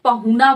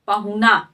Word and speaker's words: पाहुन: मेहमान पाहुन से भोजपुरी में लोग पहुना बोलते हैं वही मेहमान का पर्यायवाची शब्द है ठीक है आम बोलचाल में लोग बोलते ही हैं पहुना तो उसी को पाहुन बोला जाता है। उसका सही उच्चारण है पाहुन।